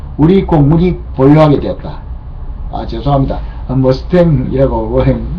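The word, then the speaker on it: Mustang: 머스탱이라고 미국 원어 발음인데 무스탕이라고 우리가 흔히 알고 있죠. 예, 무스탕이라고 그냥 하겠습니다. F-51은 제2차 세계대전 말여 유럽과 태평양에서 벌어졌던 전쟁에서 연합군을 승리로 이끈 유명한 전투기였다.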